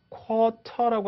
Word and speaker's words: quarter: 그래서 quarter라고 하지 않고 아까 이런 발음처럼 quarter 이렇게 발음돼요.